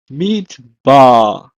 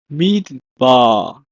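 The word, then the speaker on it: מדבר: In Hebrew, is pronounced as midbar, midbar.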